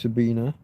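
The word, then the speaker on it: Sabine: Anton Petro uh the German lady Sabina Hosenfelder maybe sorry Sabina it's an E on the end rather than an A but it's pronounced Sabina Sabina Hosen Felder I think I would recommend there's a lady called Dr.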